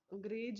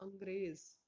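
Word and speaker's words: अंग्रेज़: अब यहाँ पर जैसे जरा हुआ, गज, फिल्म, अंग्रेज, अंग्रेज नहीं बोलेंगे उसको हम लोग, अंग्रेज, जुल्म, दर्जी, बर्फ, रोजा, शराफत, फर्क, कर्ज और इज्जत।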